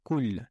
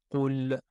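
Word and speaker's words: قل: Ne dites pas Kul, Kou, avec un kef, ke, Kul. Mais c'est Qul. Prononcez bien au fond de la gorge.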